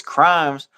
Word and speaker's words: Crhymes: noticed your name bro it's crimes but it's spelled if you take the C away it's Rhymes yes sir how did and